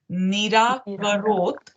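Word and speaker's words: निराकरोत्: So we will pronounce this as Nirakarot. So the ta is short.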